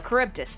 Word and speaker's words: Charybdis: Charybdis. Okay. There we go, Charybdis. Now I know how to spell it.